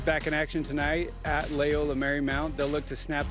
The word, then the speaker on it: Loyola: And if we're talking about pronunciation, you said Loyola. It's Loyola.